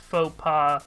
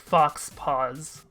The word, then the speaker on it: faux pas: in my life where I pronounced faux pas as like Fox pause so like whatever I